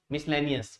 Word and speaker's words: miscellaneous: तो आपको याद रखना है कि एस के बाद जब सी आता है तो ये क्या रहता है? साइलेंट लेटर रहता है। MISCELLANEOUS, मिसलेनियस।